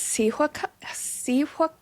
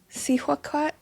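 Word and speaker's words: Cihuacōātl: I think it's Sihuaquat, I think. Sihuaquat, I think.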